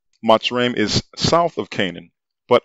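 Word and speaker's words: Mitzrayim: map does show that matsuram or mizraim as they choose to call it which is the jewish pronunciation matsurim is south of canaan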